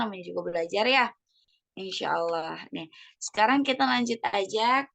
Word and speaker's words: الله: Mumtaz ya, Allah barik ya. Kemudian di bacaan Allah itu lafzul jalalah dan sebelumnya ada dhammah dan maka bacanya tebal ya, tafkhim.